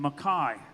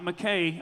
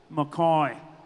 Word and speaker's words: Mackay: It's not McKay, announcers at the National Finals Rodeo. Say it right for him, Kai. It's Mackay. Mackay. Quit saying McKay, just because it's spelled that way. Again, that's not how you say it.